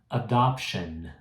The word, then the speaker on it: adoption: Mas em inglês eu preciso fazer o N.